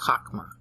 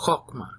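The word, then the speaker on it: חכמה: So the A's and O's get mixed up in modern Judaism today, and that's okay. Just as long as you know what this is Chakma. And it's usually pronounced Chokma today.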